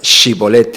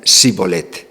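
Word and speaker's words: shibboleth: que os efraimitas, né, eram incapazes de pronunciar shibolete, eles diziam sibolete, né, em lugar de uma alveopalatal, pronunciavam uma fricativa alveolar, né.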